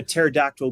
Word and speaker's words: pterodactyl: can't you hear a pterodactyl going to the bathroom the p is silent very good stuff very